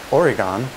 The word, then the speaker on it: Oregon: second although you may have heard it called Oregon locals pronounce it Oregon and last contrary to what